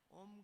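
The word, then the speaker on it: ओम्: का उच्चारण करते हैं ओम शब्द तीन अक्षरों से बना अ भू म तो हम इसका उच्चारण जब ठीक से करते हैं तो अ ओ म पे होठ बंद हो जाती है अ उ म उसको मिलाकर के संधि हो जाती है तो अ उ का ओ बन जाता है और साथ में म मिल गया तो ओम उसका उच्चारण कैसे भी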